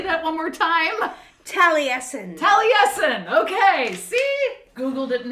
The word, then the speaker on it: Taliesin: Frankl right okay say that one more time tesen tesen okay see Google didn't have to pronounce it Tracy did all have to do